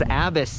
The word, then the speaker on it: ABUS: I'm not exactly sure about the Abus folding locks. Oh, it's Abus. I'm saying it wrong all this time.